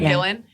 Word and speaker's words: Gillan: back to voice one line for a Karen Gillan. Did I say her name right? Yeah Karen Gillan which was really cool seeing her not all